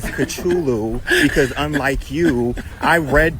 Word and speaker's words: Cthulhu: I pronounce his name as Cthulhu because unlike you, I read the scrolls.